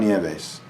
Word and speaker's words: Nieves: Juan Nieves. Nieves. It's an American way of pronouncing that name.